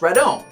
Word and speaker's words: Rodan: And finally, in the original Japanese movies, Rodan's name was spelled backwards and pronounced Radon.